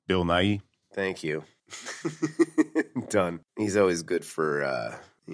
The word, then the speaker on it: Nighy: I have never known how to pronounce this guy's name. Bill Nighy.